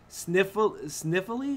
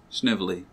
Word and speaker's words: Snively: Sniffly? Is that how you say it? Snively, yeah.